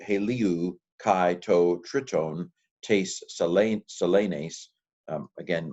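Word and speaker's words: σελήνης: kai to triton tes selenes. Again, modern Greek people says it's not selenes, it's selenis. Anyway, sorry, selenes. I'm Erasmian.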